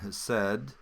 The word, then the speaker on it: hesed: I'll click on that and it will take me and isolate the word, and it's called hesed, pronounced that way.